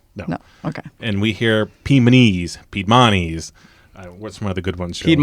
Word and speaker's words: Piedmontese: We hear it just about every way, but it's Piedmontese. Piedmontese.